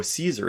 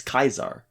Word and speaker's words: Caesar: i-u-l i-u-l yeah and c's are always pronounced hard c so there's no caesar it's kaisar yeah so it's julius